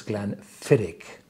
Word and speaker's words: Glenfiddich: deer it's Gaelic and all the garlic distilleries are pronounced on the second syllable so it's glenfidic yeah cheers immediately present